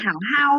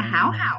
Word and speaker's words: 好好: lại đọc là 好， hảo hảo chứ không phải đọc là háo hảo ạ.